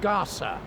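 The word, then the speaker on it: Gasa: up on the Internet it's spelled g-a-s-a if you look up Gaza with a zed you'll end up in the Middle East which is not where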